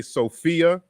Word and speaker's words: Sophia: P becomes F so just like when we say Sophia but we spell it s-o-p-h-i-a and it has the F sound so it's the same